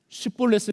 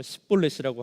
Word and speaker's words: 쉽볼렛: 쉽볼렛을 시켜보고 발음을 못해서 십볼렛이라고 하는 사람들은 다 죽었습니다.